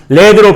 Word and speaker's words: lead: lead가 명사로 쓰이는 경우에는 우리가 led로 발음하고 그때는 뜻이 뭐예요?